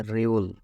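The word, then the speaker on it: 리을: এটার উচ্চারণ হচ্ছে রিউল।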